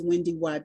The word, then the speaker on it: WendyY: say it's WendyY, they think that it's Y. They're like, how do you spell that Y? Right. So I have to tell them it's WendyY, W-E-N-D-Y, B like boy, A-I-L-E-Y.